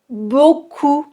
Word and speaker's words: beaucoup: Beaucoup, on n'entend pas le P.